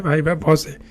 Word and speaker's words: viva voce: ইতিমধ্যে আপনারা দেখতে পাইছেন যেটা একটি লাটিন শব্দ যার উচ্চারণ হয় ভাই বা ভসে এবং এটা ঠিকই আছে এটা ভয়েস হয় না ভাই বা ভসই হয় তো এই ছিল আজকের